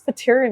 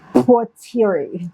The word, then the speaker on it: Patiri: Patiri. See, a lot of people pronounce it that way, but it's really patiri.